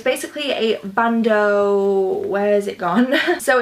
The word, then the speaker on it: bandeau: So it's basically a bandeau.